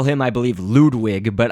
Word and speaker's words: Ludwig: call him I believe Ludwig but I sort of say it like the actual German you know pronunciation of ludig so ludvig von Koopa or Ludwig but uh yeah again